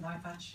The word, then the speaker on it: Aytac: My name is Aytac. It's easy to remember from iPhone Aytac.